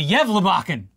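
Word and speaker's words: Gävlebocken: stockings the candy canes and eggnog because the yachan did I say it right you actually did for the first time ever the yev bachan has returned to its Post in the center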